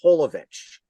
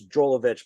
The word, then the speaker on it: Jovovich: mispronounced my last name it's Mila holovich so I guess in America it's drollovich but in over like in Europe and stuff it's holovich the J is pronounced but that's how she